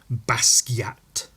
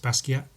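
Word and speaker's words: Basquiat: young white fellas trying to be the next basat I always thought it was pronounced basa and I prefer that pronunciation but it it's not it's pronounced basat that's how he pronounced it so I mean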